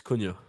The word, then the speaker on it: Cunha: It's Cunha. Cunha, that's it. Cunha. Yeah, he's played Very good pretty player. well. Him and Lamina have played pretty well, according to SofaScore. Obviously, Cunha is a player that I wouldn't mind signing